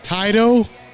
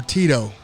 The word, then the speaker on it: Tyto: The name of the company, Tyto or Tito? I'm saying Tito, but I'm good with either pronunciation. Hey, no, if it's coming from the man himself, Tito it is, okay?